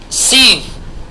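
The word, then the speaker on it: sieve: याने चम्मच अथवा चमचा चलनी चलनी चलनी चलनी सीव very good S आई ई वी ई एस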